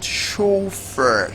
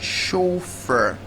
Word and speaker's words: chauffeur: you are is pronounced chauffeured chauffeur chauffeur it's a French word where the CH is